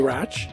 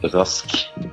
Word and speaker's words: Rasch: a special guest, Rach. Actually, why don't you tell me how you pronounce your name? Well, I'm Norwegian, and in Norwegian that name is pronounced Rask.